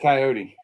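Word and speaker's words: Kioti: But I think they pronounce it coyote.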